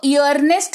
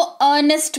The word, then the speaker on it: earn: जैसे EARNEST, इसको ईयरनेस्ट नहीं, इसको अर्नेस्ट पढ़ते हैं। क्या पढ़ते हैं? अर्नेस्ट पढ़ते हैं। फिर देखो EARN, ईयर्न नहीं पढ़ते हैं इसको अर्न पढ़ते हैं।